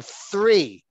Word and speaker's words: three: So again, we're differentiating between the pronunciation of tree and three. So we're using a stimulus in nature in order to learn a pronunciation point, the difference between t and th, and then they can practice that.